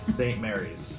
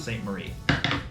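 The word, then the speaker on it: St. Maries: just so you know when you see this word it's St Mary's no apostrophe no apostrophe it's not St Marie and St Mary's is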